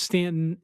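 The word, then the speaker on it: Staunton: a quaint little downtown Stanton. It's it's pronounced Stanton.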